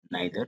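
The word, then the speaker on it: neither: Distributive pronounce में normally 3 word ध्यान रखना है हमें, ईच, आइदर, इसे इधर भी पढ़ते हैं, नाइदर, नीदर भी पढ़ते हैं।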